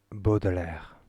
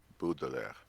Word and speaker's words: Baudelaire: How do you pronounce that, Cordelh? Baudelaire. Baudelaire.